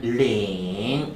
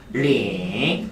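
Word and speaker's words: 零: 숫자 0은 링. 발음 시작. 링.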